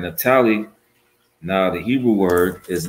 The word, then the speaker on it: Naphtali: Now it's pronounced Naphthalia. All right, Naphthalia.